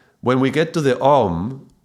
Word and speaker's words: Om: And so in order to pronounce it properly, the way I was taught to chant Om would be to open the mouth and leave it open, and the tongue is